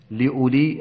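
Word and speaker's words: لأولي: حرف ساكن ترقق الراء لولي هذا ليس بدل هذه الواو تكتب ولا تنطق لا بصر نقل حركه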